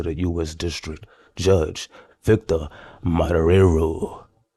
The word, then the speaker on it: Marrero: District Judge Victor Marrero. I think you're supposed to roll your R's with that one right there.